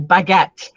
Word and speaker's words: baguette: Or baguette, for example, the E at the end, you don't hear the E, it's a silent E at the end.